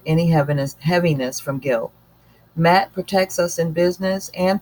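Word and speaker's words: Maat: the punishing attack about Matt is pronounced Matt m80 matt is the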